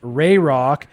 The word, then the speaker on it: Rayrock: By the way, Warrior, it's pronounced Rayrock, aka Phimok. Thanks for all you do, Rayrock.